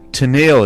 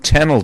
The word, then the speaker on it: Tennille: Yeah, because Tennille is really a mispronunciation of Tennille, Georgia, which is right up the road.